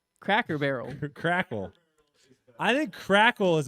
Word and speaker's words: Cracker Barrel: I said Crackle Barrel. Crackle Barrel? You don't even know how to pronounce it. Cracker Barrel.